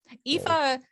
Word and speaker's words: Aoife: So that's how her name is spelled, but it's pronounced Aoife, in case you didn't know.